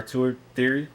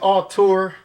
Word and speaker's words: auteur: It's auteur. So auteur, for anybody that don't know, it's like in movies you got auteur, that's a director.